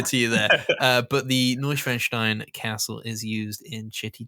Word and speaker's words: Neuschwanstein: It's actually pronounced Neuschwanstein.